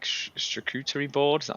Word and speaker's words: charcuterie: God, and then we had this like charcuterie board. Is that how you pronounce it?